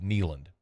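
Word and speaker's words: Kneeland: potentially like um like neand if in fact he's there by the way it's spelled k NE l a n d for those who are interested neand like a knee like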